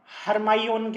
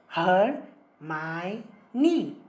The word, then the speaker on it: हर्माइनी: हरमाइनी अब क्रम को अपने नाम का सही उच्चारण सिखा रही थी। वो उसे बार बार हरमाइयोन कह रहा था। हरमाइनी, हरमाइनी ने धीरे धीरे और स्पष्टता से कहा।